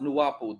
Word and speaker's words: Nu-Wau-Bu: It says, Nu-Wau-Bu is pronounced Nu-Wau-Bu.